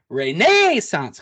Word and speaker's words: Renaissance: You need a little more horse in there. Renaissance Club. Like the guys that introduced Ricky Fowler at the first tee of the British Open.